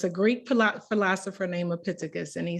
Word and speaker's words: Epictetus: philosopher, and I'm gonna say his name right, Epictetus. It's a Greek philosopher named Epictetus, and he said, we have 2 ears and